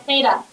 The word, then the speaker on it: theta: but just make sure you're saying it right, theta.